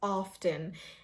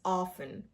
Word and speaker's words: often: Now, a very common word, but many people pronounce it as often. Remember everybody, the T is silent here, so the pronunciation is often, often.